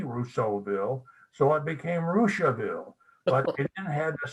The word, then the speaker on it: Russiaville: Well, Rushville is spelled Russiaville, pronounced Rushville, and it is from a French Canadian named Rousseau, Rossseau, who was half Indian.